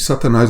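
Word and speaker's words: שטן: E Satanás aqui do lado direito, essa palavra que também com a mesma grafia, mas a pronúncia Satan, significa adversário.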